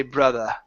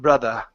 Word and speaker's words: brother: you were reading okay if you wanted to maintain a British accent you could say brother and it's an ah sound brother at the end but in American pronunciation we say brother and it's an urge